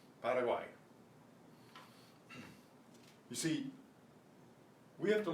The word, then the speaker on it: Paraguay: Same way with Paraguay, not Paraguay, Paraguay.